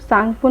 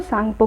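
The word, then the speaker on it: Tsangpo: तिब्बत में ब्रह्मपुत्र नदी को सांगपो नदी कहते हैं, टी इसमें साइलेंट है तो सांगपो कहते हैं इसको।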